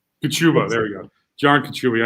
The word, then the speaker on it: Kachuba: Okay, Kachuba. Kachuba. There we go. John Kachuba. I knew I butchered that.